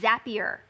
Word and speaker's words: Zapier: I think we're going to call it Zapier today. Zap. It's a zap, isn't it? Yeah. We're creating zaps in Zapier. So we're going to go with that. Zapier. Okay. We'll go with that pronunciation.